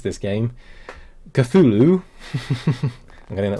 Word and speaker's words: Cthulhu: Now, I actually had to think, look up how to pronounce this game. Cthulhu.